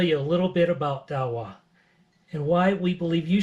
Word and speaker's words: Dahua: of their all-star program have you heard it Dow well probably not and guess what until recently